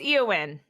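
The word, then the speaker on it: Éowyn: it's Eowyn. It's just hard. I'm Yes. not know Okay. if I'm Yeah.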